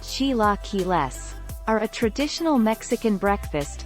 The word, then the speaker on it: chilaquiles: satisfaction let us show you the way chilaquiles pronounced chilaquiles are a traditional mexican breakfast made with tortilla